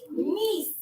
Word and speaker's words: Nice: Yes, and in French we pronounce it a little differently. Nice.